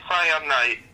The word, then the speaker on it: Cyanite: Yep, it's Cyanite.